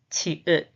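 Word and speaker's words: 치읓: The pronunciation is cha, cha, cha. The name is qi-ut, qi-ut, qi-ut, qi-ut, qi-ut.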